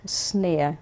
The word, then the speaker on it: Szneer: Leopold Snare. We call him Poldi. Snare, right. And Spell that for us.